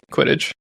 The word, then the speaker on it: Quidditch: Quidditch.